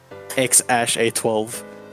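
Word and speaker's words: X Æ A-12: Musk he said like the X is pronounced X and the AE is pronounced ash and then it's just a twelve so it's like X ash a twelve I guess the baby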